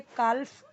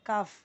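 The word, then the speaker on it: calf: इसे काल्फ, काल्फ, काल्फ नहीं पढ़ना है, काफ, काफ, एल साइलेंट है।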